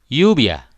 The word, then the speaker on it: lluvia: Sedangkan double L diucapkan Y. Contoh llamar, llenar, lluvia.